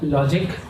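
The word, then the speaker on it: LodgIQ: a principal consultant at logic so it's an OTG IQ but we pronounce it is logic basically my complete into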